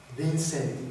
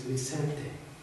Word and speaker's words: Vicente: No, it is not Vincent, it is Vicente.